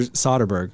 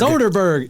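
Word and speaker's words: Soderbergh: Soderberg wanted to actor soberg soberg soberg will never say it right I don't know why Soden BG Soderberg it's like soda I want a soda um he wanted the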